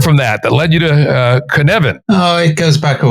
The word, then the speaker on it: Cynefin: pronounced it something like Kinefin. Dave, how do we actually say that? It's Cynefin. It's Welsh. It's phonetic, but we have a different alphabet.